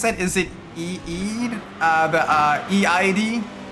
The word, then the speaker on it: Eid: Okay, it's pronounced Eid.